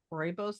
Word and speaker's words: Rooibos: Is that rooibos? Like the name Roy? Rooibos. It's like Rooibos? a guy named Roy got on a bus. That's how I pronounce it. Rooibos, even though it has the O.